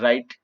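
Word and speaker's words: write: कैसे डब्लू आदि डब्ल्यू आर इसका यहां डब्लू साइलेंट होगा तो लिखने रिस्ट यह निकल आई है flash lights wi-fi team राइट यानि लिखना तो आर यू यह डब्ल्यू आर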